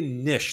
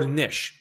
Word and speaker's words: niche: important just pick a niche this is what I called it depends on how you pronunciate depends on where you're located meaning nich or Nish meaning more specific who